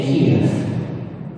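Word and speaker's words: Kyiv: We stayed in Kiev, to use the Ukrainian pronunciation, and travelled also to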